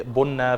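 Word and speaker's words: ቡና: كلمة سلام كلمة مشتركة، كلمة البن زي ما احنا بنقولها بتتنطق بنة في اثيوبيا، بعض الارقام زي رقم 7 ورقم 3 بيتنطقوا بنفس الطريقة ما بين اللغتين، فدي نقطة من النقط المهمة.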